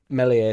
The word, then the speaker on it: Meslier: Like, genuinely, last year with Meslier, silent S, he got us out of a sticky situation.